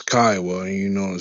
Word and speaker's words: Kiowa: private chat before you open your mouth it's Kiowa and you know to say it right all